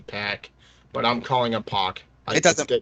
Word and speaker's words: PAC: friggin pronunciations well apparently apparently his name is supposed to be pack but I'm calling a